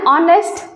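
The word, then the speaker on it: honest: teacher हूं ठीक और ऑनेस्ट आर्टिस्ट यहां पर हा साइलेंट है ऑनेस्ट वावेल साउंड वावेल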